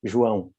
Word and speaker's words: João: you would pronounce it. João. It's a Portuguese name.